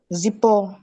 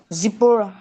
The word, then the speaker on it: Zipporah: Zippo. Is that the right pronunciation? Pronounce properly, Daniel. Zipporah.